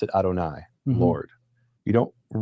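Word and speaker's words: יהוה: see the letters Yud He Vav He, you pronounce it Adonai, Lord.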